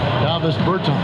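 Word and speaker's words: Dāvis Bertāns: Is that how you say his name? Davis Bertans. Davis Bertans? Yes.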